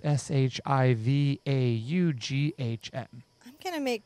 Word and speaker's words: Siobhan: But in all fairness, it is spelled Siobhan. No, no, no. I can't handle that. But pronounced Shivaughn.